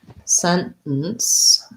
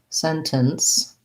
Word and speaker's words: sentence: alexis wants to know is it okay to use a stop t in the word sentence um yes uh i tend to do that so sentence sentence um you might find it easier to use a real t but most americans are